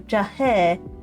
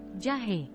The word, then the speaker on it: jahe: The drink's name itself is the ingredients, which I will totally mispronounce right now. Susu, telur, madu, jahe, milk, egg, honey, and ginger.